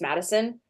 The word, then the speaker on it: Maddisun: about it and I just say that it's Madison and like a lot of people just pronounce it like that and I I kind